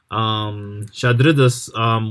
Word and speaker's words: Chadriduss: The Dragonborn, Shadridas, I said that name wrong earlier. Wait, how do you spell that? That is even harder to spell. CHADRIDUSS. Shadridus, when they speak up, they have this gruff